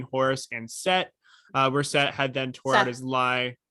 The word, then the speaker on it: Seth: and set uh where set had then tore out his lie yeah um pronounced with an h oh seth oh yeah it's seth um i know yeah